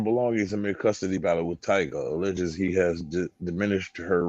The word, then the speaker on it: Tyga: It was Tyga, and she said it Tigger. I said there's only one Tigger.